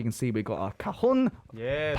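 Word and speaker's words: cajón: As you can see, we've got our cajon. Yes. 발음 원래 뭐죠? 까홍.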